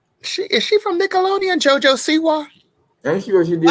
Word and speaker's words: Siwa: I didn't know what a JoJo Siwa was.